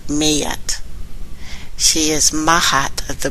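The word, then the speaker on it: Maat: Mat is actually pronounced Mayat.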